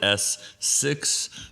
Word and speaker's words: ES6: That's the easiest way to tell people, but you pronounce it S6, but yes.